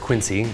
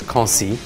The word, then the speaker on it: Quincy: This week, we're looking at a wine from a village called Quincy, spelled very similar to Quincy. People often call it that, it's fine, but the French pronunciation is Quincy.